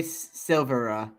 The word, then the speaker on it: Silvera: I is silent, so Silvera.